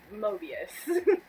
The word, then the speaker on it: Mobius: to like spell that I thought it was Noah bus at first but it's Mobius older considered mobians yeah